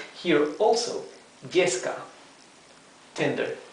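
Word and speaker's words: yesca: Here also, yeska, tinder. Yeska is written with Y, not with double L.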